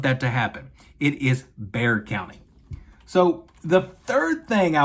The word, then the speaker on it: Bexar: x a r but it is not Bexar County it is Bear County so if you're going